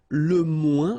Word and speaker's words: moins: Okay, so le moins, remember when we combine this O-I-N together, we get the sound ouin, ouin, okay, and we don't pronounce this final S.